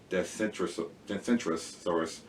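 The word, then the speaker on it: Dacentrurus: This is the same genre, and the name again, say it correctly, is Decentrosaurus.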